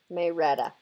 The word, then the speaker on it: Marietta: pronounce that May Retta Marietta but they pronounce it may Rhetta I used to live